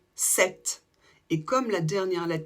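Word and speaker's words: sept: 7 c'est une exception on l'écrit avec P t à la fin mais on ne prononce pas le P par contre on prononce le T 7 et comme la dernière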